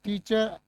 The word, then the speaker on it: teacher: इसमें खाली क्या बोलेंगे टी च को लंबा करो। क्या है? टी च। र नहीं बोलना इसमें।